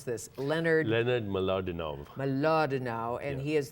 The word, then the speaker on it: Mlodinow: Deepak Chopra, how do I pronounce this? Leonard Mlodinow.